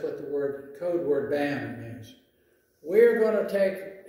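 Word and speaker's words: BAMN: Have you ever heard the word BAM? It's spelled just like the word D-A-M-N. It's called B-A-M-N, all right?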